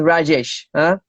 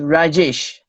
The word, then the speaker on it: Rajesh: righteous and by the way the correct pronouncing pronunciation of your name is Rajesh can you hear us yep okay the correct pronunciation of your name is Rajesh yep okay so I think yes we can't